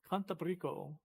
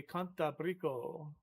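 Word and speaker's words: Cantábrico: I don't understand why the A would have an accent on it. Because I thought in Spanish that you always accent the second syllable. Oh, Brico. No, I think maybe you accent the second to last syllable then, huh?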